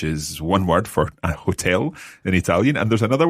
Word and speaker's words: hotel: albergo but just watch with hotel in italian you don't have to pronounce the h so it's hotel hotel so let's think